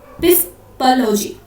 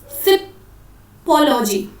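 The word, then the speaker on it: psephology: और इस स्टडी को हम क्या बोलते हैं, पिस्पोलॉजी, ठीक है, सिपोलॉजी, ठीक है, इसमें पी साइलेंट होता है, ठीक है।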